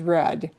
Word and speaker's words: read: And by the way, it's spelled the same way, but pronounced differently. Read versus read.